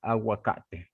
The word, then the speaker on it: aguacate: Like this agua is water.